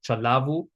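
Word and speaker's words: ચલાવવું: So in chalavu there are some verbs in gati that have a double v but you don't actually pronounce the double v. So we still pronounce it like chalavu.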